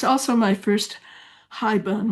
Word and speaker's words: haibun: Oh, it's also my first haibun, which I understand is properly pronounced something like haibun, but I'll say haibun.